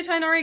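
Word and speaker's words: Tighnari: Yeah, I say Tinari because that's how they say it in the in the English dub, but I think it's technically like Tenuri or something.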